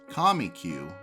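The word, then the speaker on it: Comique: a regular attraction at the comic theater pronounced comic-cue by the cowboys and performed alongside the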